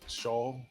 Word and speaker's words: Schaal: Kristen Schaal.